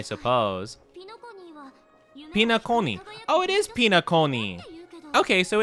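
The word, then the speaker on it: Penacony: Oh, it is Pinaconi. Okay, so it's not, yeah, okay, Pinaconi. Pinaconi. Okay, I like that pronunciation more.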